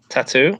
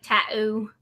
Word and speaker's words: tattoo: Tattoo? See, yeah. Why do I say it weird? Because you don't pronounce the T in the middle when you just say it quick.